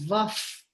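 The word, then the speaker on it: vah: Om Namo Vaf, pronounced Om Namo Vaf, which is V-A-H, because it's followed by a pa sound, P sound.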